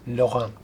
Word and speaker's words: Laurent: His mother's last name was Laurent, L-A-U-R-E-N-T. But as you know, that T, that final T, is silent, so you are left with L-A-U-R-E-N.